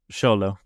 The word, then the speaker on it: Xolo: Is it Xolo or Zolo? Xolo. Xolo. Right. Okay.